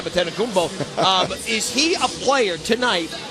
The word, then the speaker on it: Antetokounmpo: Well, one thing that we do know is the entire world pretty much this week has learned how to pronounce his last name, Antetokounmpo.